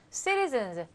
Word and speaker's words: citizens: 미국 시민 citizens. z 발음 z 이렇게 성대가 울리게 유성음으로 해주셔서 American citizens에 의해서 사랑받는 남자.